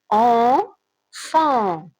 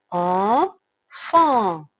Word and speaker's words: enfant: Alors, enfant, enfant, enfant, c'est avec son sang et T aussi ça se prononce pas.